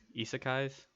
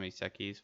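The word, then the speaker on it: isekai: of his sekes uh isakai's i think is how it's actually pronounced i've always called them iseki's but lately i learned that that's not how you pronounce them i was like oh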